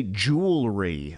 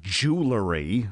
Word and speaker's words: jewelry: because and avoid mispronunciations say jewelry not jewellery which could offend undoubtedly you don't